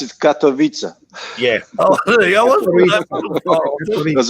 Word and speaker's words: Katowice: Now, I always pronounce it Katowice, but it's probably not even pronounced like that.